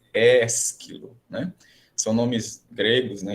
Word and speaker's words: Ésquilo: B, Ésquilo, são palavras aí, gente, paroxítonas, né? Então, prestando atenção no acento, ele vem na antepenúltima sílaba, então ela tem que ser a mais forte. Sófocles, Ésquilo, né?